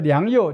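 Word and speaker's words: 良莠: 不齐嘛，良莠就有人念作良莠，两个通了哦，好的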